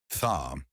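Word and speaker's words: ث: It is crucial not to replace this sound with an S.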